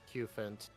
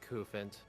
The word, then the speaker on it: Cufant: I think it is Cufant. Like, rhymes with elephant. Cufant. That makes the most sense.